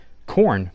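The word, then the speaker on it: Korn: hell my saying is it still is corn that's Kor n not corn on the cob like corn it's spelled different I don't know what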